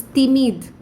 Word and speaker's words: timide: Okay, here I want you all to know the pronunciations of letter D and T are very soft in French. Okay, so instead of saying director, they say directeur. Okay, it's not t, it's t. So it's timide.